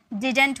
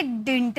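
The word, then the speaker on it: didn't: अब इसे देखिए, इसकी जो प्रोनाउंसिएशन होती है ना, वो या तो आप इसे डिंट में प्रोनाउंस करो या तो आप इसे डिडंट में प्रोनाउंस करो। ठीक है, डिंट या डिडंट दोनों में आप प्रोनाउंस कर सकते हैं, डिडंट या डिंट।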